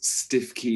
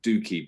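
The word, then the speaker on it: Stiffkey: It's Farrow and Ball's Stiff Key Blue, but I believe it's pronounced Dookie Blue.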